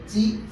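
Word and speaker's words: ち: তারপরে কি আছে আকাছা তা তারপরে এখানে কেন চি হলো কারণ জাপানিজরা টি উচ্চারণ হতে প্রবলেম হয় ঠিক আছে চি এটা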